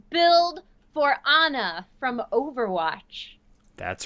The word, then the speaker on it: Ana: released with her and she pronounces it on a in the voiceover perfect it's Anna I love it on